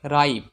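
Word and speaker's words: ripe: দেখো আর আই পি এখানে রিপ উচ্চারণ হবে না এখানে উচ্চারণ হবে রাইপ এখানে রাইপ মানে হলো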